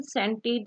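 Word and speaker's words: scented: सो सीन, सेंटेड, सेप्टर and scissors में आई ई वाई की मौजूदगी जब होती है एस सी अल्फाबेट के साथ तो सी वुड बी silent.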